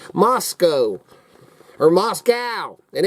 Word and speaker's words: Moscow: Moscow does not protect or Moscow is not pronounced Moscow it is pronounced Moscow we ain't in Russia okay that's just a